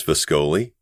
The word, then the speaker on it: Viscoli: Quite observant, Miss Viscoli. He pronounced her name perfectly. Long O sound and all.